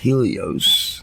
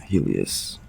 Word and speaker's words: Helios: Apollo, Helios and Apollo, I don't want to mispronounce it in case they have some uh pagan uh people listening to the show, you know, no disrespect. Helios not Helas were but they were